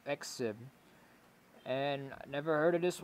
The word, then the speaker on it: XIV: and that is XIV that's the pronunciation of the name exib and never heard of